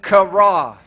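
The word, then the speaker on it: חָרָה: That word fret in Hebrew is kara. Ahora, esta palabra donde lees irrites en el hebreo es kara. It kind of sounds like a karate chop, right?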